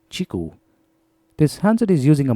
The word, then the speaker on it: QiKU: entered the Indian market Qi KU that's how you spell it but Qi here stands for Chi and hence the name chiku this handset is using